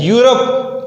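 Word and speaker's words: Europe: यूरोप, ई है, ई हमारे पास vowel में मौजूद है, लेकिन यूरोप की जो प्रोनाउंसिएशन है या साउंड है यू से शुरू हो रहा है, ये भी हमारे पास क्या है? ये वावल नहीं हुआ, इसकी जो आवाज है वो कॉन्सोनेंट की हो गई, इसलिए हम इसके साथ क्या इस्तेमाल करेंगे?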